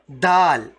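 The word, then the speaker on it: د: Okay, then we have dal. Dal. This letter dal, while saying dal, you won't stick your tongue out. No, your tongue will remain in the same position, almost the same position as this letter.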